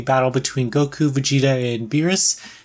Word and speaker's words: Beerus: between Goku Vegeta and beerus i hope i'm saying that name right how to pronounce Pyrrhus yeah yeah that was right those aren't all along